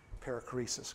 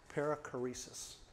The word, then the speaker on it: perichoresis: Perichoresis.